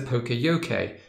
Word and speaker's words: Poka-Yoke: the card to fit now this is a Pocoyo Kay and it is pronounced Pocoyo K by the way so I